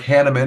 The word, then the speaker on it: Hannemann: it because I'm excited about Reverend Dr hannaman is that you pronounce that that's right yeah and so